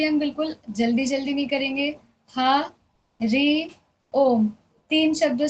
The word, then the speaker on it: हरि ओम: ह ऋ ओम तीन शब्दों से मिलके हरि ओम बन रहा है। तो पहले ह ऋ ओम ऐसे हमें इसको प्रोनाउंस करना है। उच्चारण करना है इसका।